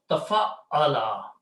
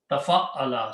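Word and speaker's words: تَفَعَّلَ: So we add a ta and a shadda. So this word is pronounced tafa'ala. Okay, tafa'ala.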